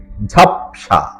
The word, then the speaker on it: ঝাপসা: ঝাপসা সঠিক এবং শুদ্ধ উচ্চারণ হল ঝাপসা অ এর নিচে অসন্ত দিয়ে উচ্চারণটি করতে হয় ঝাপসা 33 মূল শব্দ ঠেলা